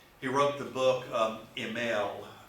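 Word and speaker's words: Émile: He wrote the book um EML. It's actually I I can't get the French role. Do you speak French chains? Okay. Well, it's ML. It's Emily is how it's spelled.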